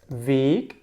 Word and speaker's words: Weg: The capital Weg is the way. And the lowercase Weg, and you hear the difference. Weg, weg.